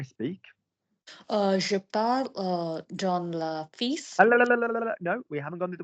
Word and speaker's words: fille: The word for girl is fille. You don't pronounce the L's.